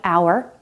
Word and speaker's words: hour: There are some common words that begin with a silent H like hour, honor, honest, and herb.